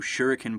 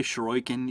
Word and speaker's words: shuriken: stuff with the new shuriken particle system uh I'm sure you're going to hear me pronounce that that like four or five different ways I always say shuren even though it's pronounced shuriken um though I'm sure maybe